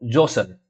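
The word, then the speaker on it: Djoser: के around king जो जोसर डी जोसर जो है डी इसमें साइलेंट है आई गेस जोसर जो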